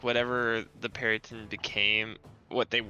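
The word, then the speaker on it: Peryton: Matthew Mercer or whoever says it's pronounced. Perryton. Perryton. Marisha says Perryton. it's Perryton. Puritan.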